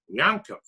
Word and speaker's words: Yaakov: No, Yankee, Yaakov, Jacob, do the ayin deep in the throat. Make it we were taught in Hebrew school that the ayin is silent, but pronounce it Yankov.